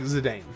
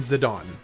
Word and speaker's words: Zidane: Okay, so Zidane from FF9 sounds to me just so much better than Zidon. Zidon I don't I don't I don't vibe with Zidon. Zedane works and that's just like just reading his name.